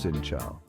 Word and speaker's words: Xin chào: When greeting someone, it's customary to bow your head slightly and say Xin Chào, pronounced Sin Chao.